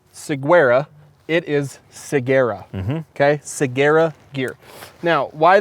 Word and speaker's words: Ciguera: belts and ride out the gate pronunciation i pronounce it saguaro seguera it is seguera okay seguera gear now why that's a little